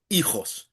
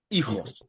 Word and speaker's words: hijos: have to remember that the H is silent and the J sounds like an H. Okay, hijos, hijos.